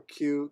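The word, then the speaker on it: 九: And yeah, again, 9 can be pronounced as ku or q.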